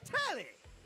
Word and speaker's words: Telly: The name's Tally. Rhymes with Nelly. Like, whoa, Nelly. Did you know Telly offers 5,000 channels like an analyst deli?